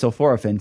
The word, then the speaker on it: sulforaphane: is no, the academic science guys, say it's sulforaphane, so I'm going to start saying it the correct way from now on.